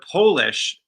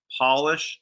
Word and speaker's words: polish: the second one also we must polish the polish furniture now that one is different because you're you're changing the vowel sound polish to polish the accents on the first syllable um so there you